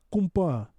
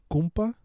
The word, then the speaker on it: compa: be like, ¿Qué onda, compa? But with a U, compa. I don't know if that's how they say it in Bolivia, but we say compa, because that's like a term for compa is like compañero.